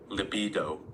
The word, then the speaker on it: libido: Pronunciation, because you guys know that I sometimes don't pronounce the words right. This is the word. Libido.